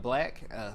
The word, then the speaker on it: BLK: So there's one called Black, but it's spelled BLK.